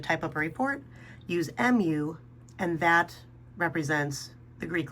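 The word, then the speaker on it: μ: All right, now this is pronounced mu, kind of like a cat, but it's spelled mu if you were to actually spell it out to identify the Greek letter.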